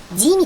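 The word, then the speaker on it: gym: 하지만 G도 C처럼 E-I-Y, 이 발음이 나는 모음을 만나면 지읒으로 변신을 합니다. 그래서 G-Y-M, 짐이 되죠. 김이 아니라 짐이 됩니다.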